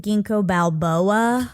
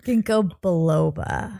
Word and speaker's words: Ginkgo biloba: You pronounced it Ginkgo Balboa. Great. Ginkgo biloba.